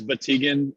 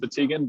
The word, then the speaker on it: Batygin: pronounce that bet again oh it's been pronounced you know every which way possible and and more so it's it's bategan it's usually you know originally pronounced batagan but i will i